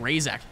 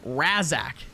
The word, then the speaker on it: Razzak: raise that i'm sorry i've been saying razak this entire time it's actually pronounced razzak so it's a little